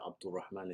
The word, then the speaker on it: Abdul Rahman: quick intro you know my name is Abdul Rahman and Abdul Rahman is how you say it properly um you know I've been tutoring since 2013.